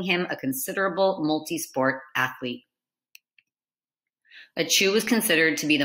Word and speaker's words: Achiu: Pronounced Achiu, Achiu's nickname was Sneeze.